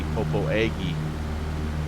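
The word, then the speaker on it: Popo Agie: of Native American names like proposia which is spelled p-o-p-o-a-g-i-e popo eggy but we managed to get that pronunciation correct there so I don't know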